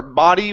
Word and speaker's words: body: This is body right here instead of body. Okay, it's an ah sound. Ba. Her body was lifeless and cold.